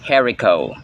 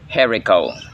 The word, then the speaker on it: haricot: this type of Bean is pronounced herico herico ang herico herico Bean